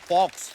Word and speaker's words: faux: और दिखाइए भाई, ये फॉक्स की सीगा FAUX, what is that? X को प्रोनाउंस ही नहीं करते। फॉक्स फोफर। फोफा। तो एक्स नाम नहीं लेना उसका, ना, साइलेंट है वो।